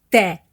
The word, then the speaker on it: te: La diferència entre aquestes dues paraules es troba en la pronunciació de la vocal, que en el primer cas, 'te', és oberta i en el segon cas, 'té', és tancada. Fixa't que quan les pronuncio, l'obertura de la boca canvia.